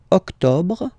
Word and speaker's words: octobre: Then, same thing here. Don't insist on the final E. Octobre, octobre, octobre.